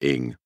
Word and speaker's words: Ng: friend's name is charlie cheetah ing cheetah pronounced cheetah an ing pronounced ing he then told wright